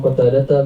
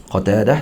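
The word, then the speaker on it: قتادة: Terus an Qatadah, qawluhu an Qatadata bi fathil qafi ka sa'adata. Qatadah sa'adah cara baca dia.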